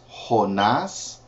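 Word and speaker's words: Jonás: have excuse me then we have Jonah is honas Micah is mik na is or Nahum is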